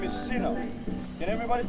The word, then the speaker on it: Sina: The sister's name is Sina. Can everybody say Sina? Sina. That's her Samoan name. It's spelled S-I-N-A.